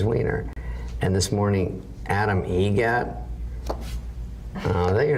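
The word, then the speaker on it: Eget: Adam Egret, Egret. Spelt differently. like the bird.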